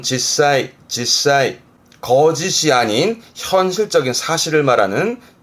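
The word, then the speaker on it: 実際: 앞에 게 실, 발음은 실제 뜻은, 발음은 지사이. 거짓이 아닌 현실적인 사실을 말하는 실제 제자기도 합니다. 지사이.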